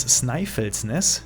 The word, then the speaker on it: Snæfellsnes: Ausgesprochen wird die Insel übrigens Snæfellsnes.